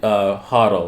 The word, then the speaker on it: HODL: And when I say hodl, right, in the Bitcoin world, it's spelled HODL. Because somebody somewhere misspelled hold.